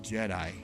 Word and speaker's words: Jedi: And I'm like, "The Order of the Jetty?" I said, "Honey, it's Jedi."